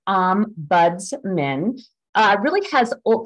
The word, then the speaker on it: Ombudsman: word so the name Ombudsman I'm going to pronounce um buds men uh really has well it comes from Old